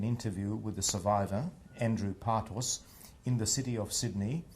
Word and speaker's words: Partos: I'm conducting an interview with the survivor, Andrew Partos, in the city of Sydney, in the state of New South Wales and the Commonwealth of Australia.